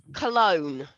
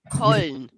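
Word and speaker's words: Köln: February yeah they say Cologne that's how I said cologne it's not actually called cologne it's actually the way you pronounce it actually called cone coin yeah people spell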